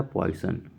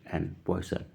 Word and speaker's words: Poisson: ठीक है, तो इसमें ऑप्शन डी सही हो जाएगा, पॉइसन, POISSON, पॉइसन।